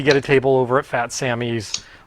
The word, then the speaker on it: Phat Sammy's: relatively well-known tiki bar called fat samies and that's spelled pH a t and then samies s mm y apostrophe s so um planning on trying to get a table over at fat Samy like either Wednesday or